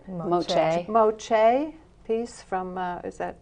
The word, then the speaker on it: Moche: And so, and one of the oldest pieces that you have in is that Moshe. Is that how you say it? Moche.